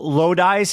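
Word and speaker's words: Lodise: Kyle Loise. Is that how you pronounce his name?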